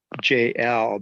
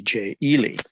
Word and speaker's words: Jay Elle: than where you're born my real name is is um jl but just spell letter j letter l and uh what happens with that is uh sometimes people are like yeah how do you spell that whatever you know and and i'm like okay let me try to spell it out j-a-y-e-l-l-e and some people started calling me jay ely so you know accommodate